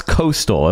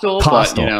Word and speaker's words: Kostal: and it's what uh Ron Jansen and Alex Coastal am I pronouncing that right it's costal okay good okay thank you so I didn't